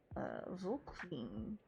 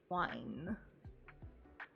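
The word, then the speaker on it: Volkwein: Max Miller with Anne Volkwine. Wine. Or Vine, depending on how you would pronounce that W.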